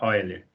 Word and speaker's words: Euler: Se pronuncia, escreve Euler, mas pronuncia Euler.